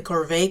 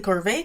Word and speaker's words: Corvae: evil capitalist institution the corvae corporation named for a form of slavery from feudal society basically evil ruler authoritarian people who will enslave you the way it's pronounced also remind people of corvus which is a family